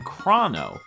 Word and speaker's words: Chrono: Well, supporters of the pronunciation Crah-no say it has more to do with the title and themes of the game more than anything. Crah-no supporters believe that because the game's entire plot has to do with time, that the name references the word chronology. And since this word is pronounced differently, does this mean that